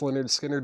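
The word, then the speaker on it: Lynyrd Skynyrd: Leonard Skard pronounced Leonard Skard is EX29.99.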